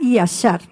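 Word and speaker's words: ישר: En hebreo la palabra yashar, se pronuncia yashar.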